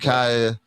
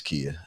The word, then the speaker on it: Kia: be here next week Kaya it's Kia and her name is interesting it is okay no no it's key that's how you say it so we're gonna be